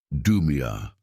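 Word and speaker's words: דּוּמִיָּה: Pronounce it with me in a low voice wherever you are. Dumia.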